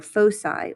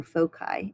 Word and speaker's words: foci: when they are plural they are foci or foci it can be pronounced either way so the equation for